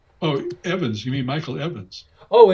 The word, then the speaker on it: Ewens: Oh, is it the W is pronounced with a V? Right? Yeah. That's a Welsh name. Ah. And according to him, it's pronounced Evans. Okay, got it's it. It's pronounced, it sounds like you, E-W-E-N-S, right?